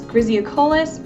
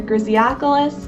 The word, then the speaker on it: griseocollis: The next bee is Bombus griseocollis or griseocollis, depending on how you want to pronounce it.